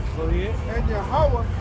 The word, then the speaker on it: Yahawah: Yahawah is his name. Not Jehovah, not Yahweh, not God, not Lord. It's Yahawah.